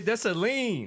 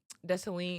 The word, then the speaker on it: Dessalines: With a silent S. So if you see her name, you see her last name, don't say the S, right? No. It's like Lines is lean.